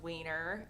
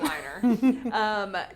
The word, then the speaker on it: Weiner: And then Matthew Weiner, could be pronounced Wiener, but I think it's Weiner.